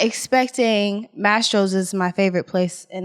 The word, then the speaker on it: Mastro's: I pronounce it Maestro's. Like it's Mastro's. Like it's Mastro's for sure.